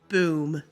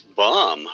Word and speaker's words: B.U.M.: misinformation or as we like to call it boom wait the bureau undermining misinformation so the initials would be Buu M right yes that's correct so that would technically be pronounced as bum right technically yes but we like the sound